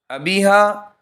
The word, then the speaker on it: ابیہا: لیے استعمال ہوتا ہے۔ ابیہا اخیر میں ہاں کے ساتھ کے معنی سمجھدار کے ہیں۔ اس کا صحیح تلفظ یہ ہے کہ اخیر میں الف کے بجائے ہاں پڑھی جائے۔ یہ نام رکھنا درست